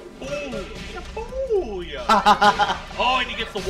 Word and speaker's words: Shibuya: Or you guys say Shibuya, I guess, is the proper gaijin pronunciation. That's the Western style. That's how Rip says it. Shibuya. Ooh. Shibuya.